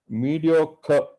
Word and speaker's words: mediocre: its age like occulates and mediocre and that r is silent there and thanks to